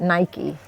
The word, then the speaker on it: Nike: So in the US, we call it Nike. Nike. Yes, everywhere. Okay. I know I've heard everywhere outside of the US, there's different pronunciation, but we prefer Nike.